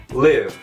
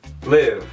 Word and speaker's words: live: Agora com a pronúncia de live, live. Significa morar, viver. Então, live, no caso, é o que foi falado no trechinho.